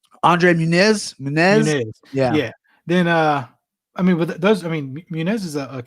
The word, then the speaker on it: Muniz: Andre Muniz.